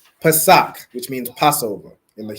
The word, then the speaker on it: Pesach: Pesach. Excellent, right? Pesach, which means Passover in the Hebrew.